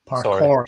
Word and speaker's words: parkour: or UK of course Parker is that thing where you just run and like jump in like landed things isn't it think they pronounce it parkour parkour sorry yes it's a French thing it's a French thing